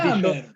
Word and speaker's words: Jammer: No, estaba como J. Yo lo pronuncié mal. Yo pensé que era martillo. Jammer. Sí, el Jammer, sí, con J.